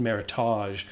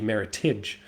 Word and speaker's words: Meritage: you can't call it Meritage. It's not French. It's American. It's extremely North American. So you have to say it with that hard G, Meritage.